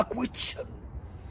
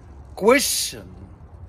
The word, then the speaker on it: question: اتش دي يعني دكتوراه، وبرضو يا اولاد بننطقها كويتشن، سؤال غلط يا اولاد غلط. عرفنا بعد كده يا اولاد لما قرعينا ان هي كويشن، كويشن، اوعى تقول كويشن، اسمها كويشن، كويشن يعني سؤال.